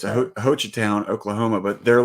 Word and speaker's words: Hochatown: So I thought it was cool because it's Hochatown. That's how you pronounce it. Sounds like Hoochie. It's Hochatown, Oklahoma, but they're like big into Bigfoot.